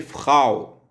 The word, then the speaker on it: Frau: Frau se prononce en français Frau, madame.